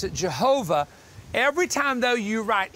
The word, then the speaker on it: Jehovah: We pronounce it Jehovah.